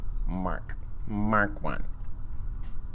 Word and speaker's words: Mk1: Sorry that I said MK1. I know it's pronounced Mark. Mark 1.